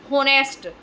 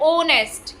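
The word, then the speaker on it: honest: कई बच्चे अब तक होनेस्ट होनेस्ट नहीं होता है। यह क्या है? ऑनेस्ट। क्या है? ऑनेस्ट। एच साइलेंट रहता है।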